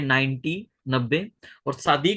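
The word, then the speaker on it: צדי: और शादी को जो है वो शादी भी बोलते हैं, जादी भी बोलते हैं कोई, लेकिन उसका जो क्या बोलते हैं ओरिजिनल प्रोनाउंसिएशन है वो टी और एस वाला ही है, जेड वाला नहीं है।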